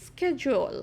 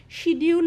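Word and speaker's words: schedule: এই যে দেখো, because of his busy স্কেজুয়াল, এটা হচ্ছে উচ্চারণটা কি, স্কেজুয়াল। তোমরা দরকার হলে গুগলে দেখে নেবে যদি আমার কথাটা বুঝতে অসুবিধা হয়। শিডিউল নয় কিন্তু, হ্যাঁ, এটা কিন্তু ভুল উচ্চারণ, SCHE স্কেজুয়াল।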